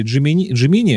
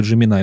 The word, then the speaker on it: Gemini: Короче, они там говорили Джимини, а потом на Джиминай меняли. То есть либо Джимини, либо Джиминай.